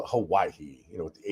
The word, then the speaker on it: Hawaii: I used to always call it Hawaii, with the H, but after spending some time there, the H is silent, I'm told, by the Hawaiians that live there.